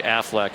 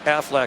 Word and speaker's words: Aflac: staple in college football Aflac Affleck Aflac in case I miss one next week I want you to say it like the Ducks Pittsburgh Wake Forest two